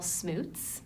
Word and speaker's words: Smoots: Well, I was born Smoots.